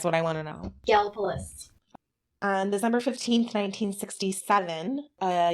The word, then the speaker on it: Gallipolis: I know how the locals say it. That's what I want to know. Gallipolis.